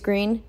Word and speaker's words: Greene: mr and mrs green that's green with a silent e at the end discover that they were